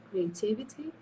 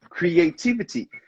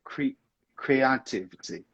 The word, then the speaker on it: creativity: would you pronounce it creativity good that's it creativity but back there you said creativity see you put the emphasis in the wrong place so creative and creativity